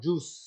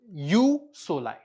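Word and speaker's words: jus soli: referred to as or pronounced as youu not juice you solai you soive which means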